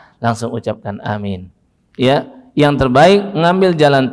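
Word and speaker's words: آمين: Dan perhatikan betul, pengucapannya harus benar antara tiga. Amin, A-nya panjang, min-nya panjang, dua-duanya panjang, ada matnya pada A dan ada mat juga pada min.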